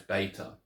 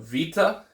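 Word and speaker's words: βῆτα: English so you got Vita and beta so beta the letter B is or beta is pronounced with the letter B rather than a v in uh erasmian pronunciation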